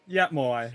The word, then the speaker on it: Moai: Am I pronouncing that name right? Moai? Yeah, Moai.